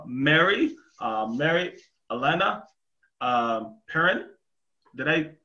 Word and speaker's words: Perrin: here with uh mary uh mary elena uh perrin did i pronounce that correctly yes you did nice um